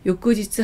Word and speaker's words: 翌: 음독은 요끄입니다. 한국어음은 익, 일본어음은 요끄입니다. 다음날 아침, 이튿날 아침을 요끄아사라고 하고요. 다음 달을 요끄게츠라고 합니다. 이튿날을 요끄지츠라고 합니다. 요끄지츠 하이소라는 것은 다음날 배송이 된다는 뜻이겠죠.